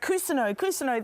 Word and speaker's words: Cousineau: And of course, Bill created that fabulous series, Barry, which got you the Emmy as Jean Cousineau. Have I pronounced it correct? Cousineau, that's right, Cousineau.